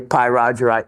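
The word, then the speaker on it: pyrargyrite: and um to the three different variations that were on the internet so if I actually mispronounce that or I if I said um pyite or pyro Gite those were all other ways to pronounce it but I liked the py Roger right the best um by the way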